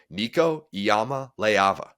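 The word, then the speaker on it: Iamaleava: I'm like, you're adding an extra syllable in there. Tua Tunga Vailoa. That's it. Nico Iyama Leava.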